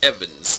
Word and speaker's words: Evans: My name is Evans. I'm Welsh. I got 2 syllables. Evans.